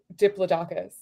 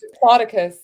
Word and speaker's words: Diplodocus: there was a dinosaur that I had been mispronouncing my entire life. Like since Dloicus. Yeah, I have been saying Diplodocus. Dipl it is diplus.